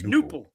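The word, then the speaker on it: Knueppel: Nipple. Nupal. It's Nupal. But that's why everybody's calling him Nipple.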